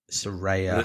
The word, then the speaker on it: Saraya: Do we see Soraya's? Is that how you say it? Soraya? Did we see her return? Saraya. The big Soraya. Soraya return that everyone was debating how you pronounce her name last week.